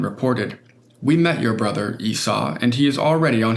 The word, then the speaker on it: Esau: I know it's pronounced Esau now.